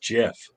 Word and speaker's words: GIF: But I believe they're pronounced Jiff.